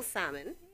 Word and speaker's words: Salmon: I'm so excited that, Salmon, just like the fish you say, right? Just like the fish. I keep trying to pronounce the L and make it fancy.